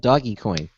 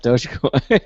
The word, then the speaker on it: Dogecoin: By the way, I noticed he called it Doggy Coin, not Dogecoin.